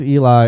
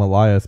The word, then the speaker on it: Elias: He comes across Eli, and I keep want to call him Elias because the way they spell it, but John meets up with Eli.